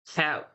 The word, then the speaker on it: helped: So normally you just have to pronounce one sound at all. Helped. Helped. See, I didn't pronounce two sounds.